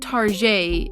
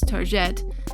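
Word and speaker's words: targette: is a French word target isn't pronounced tar J is tar jet and it's a feminine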